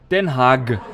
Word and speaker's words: Den Haag: Den Haag. Which is in no way how we Germans pronounce our G's.